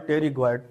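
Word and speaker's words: pterygoid: and lateral टेरिग इड टेरिग इड की spelling इस तरह लिखें इसमें पी साइलें है दैट इज कॉल्ड टेरिग इड ठीक है तो वन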